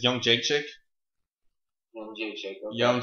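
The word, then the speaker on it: Jędrzejczyk: Yeah, I guess the way to say her last name is Young Jake Chick.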